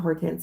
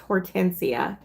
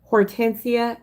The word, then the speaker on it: Hortense: Um, not Hortense, it's pronounced Hortensia. Hortensia Cany, H O R T E N S E, last name is Cany C A N T Y on Facebook.